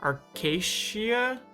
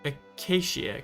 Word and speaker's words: acacia: So iron acorn, that comes from iron saplings, which, yeah, acacia? No, it would be acacia, because there's no R.